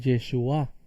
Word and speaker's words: Yeshua: La palabra hebrea para salvación es Yeshua. Fíjense, Yeshua lleva acento en la A, pero el nombre de nuestro Mesías es Yeshua, con acento en la U.